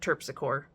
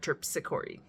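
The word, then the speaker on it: Terpsichore: Nine out of 10 times I said Tpsor instead of Tpori.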